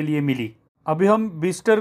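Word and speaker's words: Bicester: इस गांव का नाम बिस्टर है, किंतु इसका स्पेलिंग बाइसेस्टर जैसा होता है।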